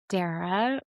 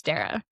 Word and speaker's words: Derya: Hi, I'm Darra. Like Sarah but with a D.